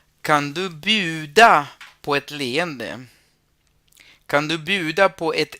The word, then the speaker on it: leende: Kan du bjuda på ett leende? Kan du bjuda på ett leende? La palabra sonrisa, la primera es una E larga, la segunda no porque después vienen dos consonantes. Entonces es leende, leende.